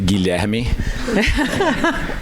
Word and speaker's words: Guilherme: It's actually Guilherme. It's William, but in Portuguese. It's the Portuguese version of it.